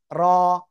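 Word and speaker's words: ر: জিব্বার আগার পিঠ তার বরাবর, তার বরাবর উপরে তালুর সাথে লাগিয়ে, জিব্বার আগার পিঠ তার বরাবর উপরে তালুর সাথে লাগিয়ে মোটা আওয়াজে এক আলিফটা নিয়ে উচ্চারণ করব, ঠিক আছে?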